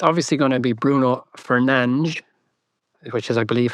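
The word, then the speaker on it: Fernandes: Well, I saw a quote about Bruno Fernand Fernandez where he said because people in Britain pronounce his name so disgustingly badly when they're trying to do the J sound that he'd rather just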